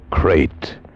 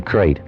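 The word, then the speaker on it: krait: Tonight we escaped to India and the story of a man trapped in his bed by a crate.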